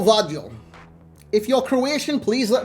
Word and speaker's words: Gvardiol: But it's not a U, it's a V. So is it GVARDIOL? GVARDIOL. I reckon it's your score, Vardiol.